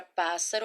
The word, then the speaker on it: pássaro: Quando a gente lê a palavra pássaro, olha só, pássaro. É como a gente já soletrasse o S na sílaba pás. Tanto é que quando a